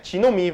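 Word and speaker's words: genome: 뭔지도 모르면서 맨날 게놈 프로젝트 이러고 다녔어요. 아무튼 게놈 프로젝트라고 불렸었고 그게 시간이 지나면서 원래 지놈이 맞는 발음이기 때문에 지놈 프로젝트로 바뀌었다가 요즘은 우리나라에선 인간 유전체 사업이라고 부른다던가 인간 유전체 프로젝트라고 부릅니다.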